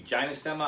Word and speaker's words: gynostemma: on to most recently is gynostemma i believe that's how you say it could be ginostema i say gynostemma i've tried this before